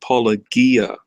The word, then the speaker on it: Paulogia: you're on board with us yeah it's it's pronounced Paul Agia ye ye yes but as I said I